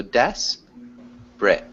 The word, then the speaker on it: desperate: pronounce but good job i think somebody said desperate and it's not desperate so we just say one that's like two syllables so des brit desperate desperate that's perfect yeah